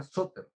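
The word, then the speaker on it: σωτήρ: Y esa palabra salvador, por ejemplo, es la palabra griega soter, así como la escuchan, soter, S-O, acento en la O, T-R.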